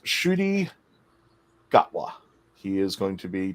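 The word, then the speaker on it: Ncuti Gatwa: our 14th doctor and it's pronounced shooty gawah he is going to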